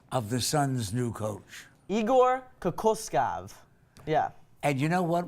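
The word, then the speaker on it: Igor Kokoškov: okay pop quiz okay how do you correctly pronounce the name of the son's new coach Igor Kaku scoff yeah and you know what we're all saying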